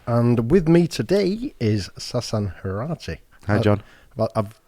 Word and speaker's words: Sasan Heirati: Today's podcast is sponsored by Ivy Hotel and Suites, and with me today is Sasan Heirati. Hi, John. I've pronounced that right.